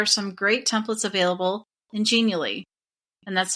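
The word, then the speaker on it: Genially: When it comes to journey maps, there are some great templates available ingenally and that's spelled G as in good E N I A L L Y.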